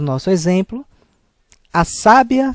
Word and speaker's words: sábia: nós vamos verificar que na primeira palavra sábia o som mais aberto a sílaba tônica é no sa enquanto em sabiá a sílaba tônica é no último a sabiá enquanto a palavra